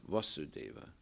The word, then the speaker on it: Vasudeva: is given very emphatically omnimo vasudeva with a long a that's krishna the son of vasudeva right no equivocation so